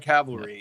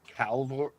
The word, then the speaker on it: cavalry: Yeah, like cavalry. Yeah. But corn. Yeah, but corn. Also, why does everyone say Calvary? I can't even say the wrong Calvary or whatever people say wrong, and it drives me crazy.